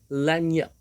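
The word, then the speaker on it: lagniappe: The spelling is a little bit seem to be It may seem to be a difficult one, but here the G sound, the pronunciation of the consonant G is definitely obsolete here.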